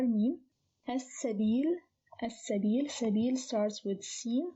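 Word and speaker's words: السبيل: which is a moon letter, so it is pronounced as al-qurba. No change here. Al-miskin, also a moon letter, mim. As-sabil.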